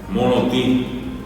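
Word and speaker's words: morotĩ: En guaraní todo eso se dice monotí. ¿Y qué tiene monoti? Una nasalidad en la I. Eh, lleva la tilde nasal en la I final. Lo único que lleva es eso.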